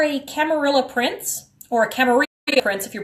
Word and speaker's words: Camarilla: hear people say it Camarilla, which is weird because those are both places where there's francophones, where the double L sound is actually pronounced like a Y, because the word is Spanish, referring to that coterie